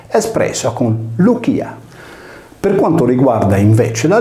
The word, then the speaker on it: Lycia: volte modo di spiegare, la Y greca si legge come una U e riprende il nome greco antico Lucia. Come si evince dalla stessa pronuncia greca, la sillaba C latina si legge come una velare chi e non come una palatale C.